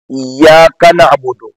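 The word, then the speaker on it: إِيَّاكَ نَعْبُدُ: نعبد و ایاک نستعین۔ اب جب ایاکا کہہ رہے ہیں آپ تو یہاں کاف اور نون کے درمیان ذرا سا آپ ٹھہریں۔ یہ آپ کا ٹھہراؤ اس لفظ کی، اس ترکیب کی اچھی طرح سے ادائیگی کا سبب بھی ہوگا، نیز کاف کو نون کے ساتھ ملا کر لفظ اپنی نوعیت سے بھٹکے گا نہیں۔ ایاک نعبد، کنا نہیں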